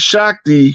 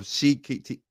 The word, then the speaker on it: Shakti: Arthur Basham, a well-known historian of India, wrote, "These themes of Shikti, how you say her name? Say that name Shakti. again, Rod. Shakti. It's pronounced Shakti.